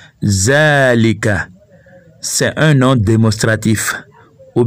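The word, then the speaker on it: ذلك: bien sûr rimac 1 en écrit zalika mais on prononce zalika car il y à ce qu'on appelle une allait supprimer un arabe alif mas roujou fois que l'on prononce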